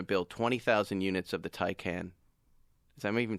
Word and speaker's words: Taycan: Originally, Porsche was going to build 20,000 units of the Taycan. Is I even saying it right? Taycan, I thought it was Taycan.